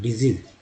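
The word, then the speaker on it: disease: ये को है ई के रूप में, यहाँ पर पहला एस ज, दूसरा भी एस ज का रूप में उच्चारण, डिजीज।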